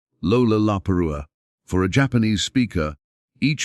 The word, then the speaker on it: Lollapalooza: An American slang term meaning something outstanding or extraordinary, it contains 4 L sounds in rapid succession at the beginning of syllables. Lollapalooza.